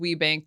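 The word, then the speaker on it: WBENC: It's pronounced WeBank. They, to this day, are still the largest certifier of women-owned businesses. So that was my introduction. Yeah, WeBank.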